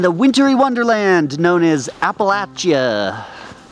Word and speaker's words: Appalachia: wintery wonderland known as appalachia this is how they say it here apparently that's how you say it apple at you like if you're throwing an apple appalachia appalachia oh did i